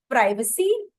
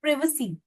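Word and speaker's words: privacy: दोनों ही सही है प्राइवेसी बेसिकली ब्रिटिश यूनाइटेड जो किंगडम वाली लैंग्वेज है वो है यूके और यूएस वाली लैंग्वेज है प्रिसी आपको कौन सा ज्यादा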